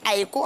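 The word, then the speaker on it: ex aequo: Donc, ça se lit Aeco. Enfin, ça s'écrit Aeco, mais ça se lit Execo.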